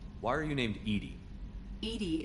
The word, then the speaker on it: EDI: are you named Edie Edie is the phonetic pronunciation of EDI acronym for enhanced Legends